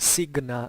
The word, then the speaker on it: signa: with the other so-called signa militaria. I say signa because that's how we believe it was pronounced. If you want the ecclesiastical pronunciation is signa, so it's signa or signa militaria.